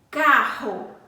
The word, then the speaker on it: carro: Carro. O R está com som brando ou forte? Está com som forte. Esse R sai da nossa garganta, arranha a nossa garganta para pronunciar, para falar esse R.